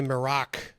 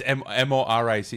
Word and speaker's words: Morić: His name is spelled Hrvoje, and then the last name is Miroc, which I bet a lot of people say Moroc. Probably, right? It's Moric.